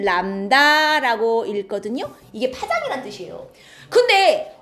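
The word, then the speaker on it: lambda: 이게 파장을 나타내는 기호인데 읽을 때는 람다라고 읽거든요.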